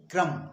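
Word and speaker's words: crumb: चौखट इसी तरह से सी आर यू एम बी इस शब्द में भी हम बी को नहीं पढ़ेंगे क्रम क्रम मींस टुकड़ा इसी तरह से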